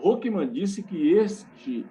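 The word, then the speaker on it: Hoekema: Pronuncia Hokeman.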